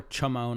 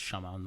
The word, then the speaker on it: Chamon: Or Chamon. I think it's pronounced Shamon though, because that ch makes a sh noise, right?